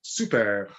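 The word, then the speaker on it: Soupert: So it's a bit like super, but a bit more of a rolling R at the end. But you don't pronounce the T at the end, so super.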